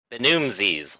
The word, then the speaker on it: Benumzes: Benumesis? Benumzes, like Ramses.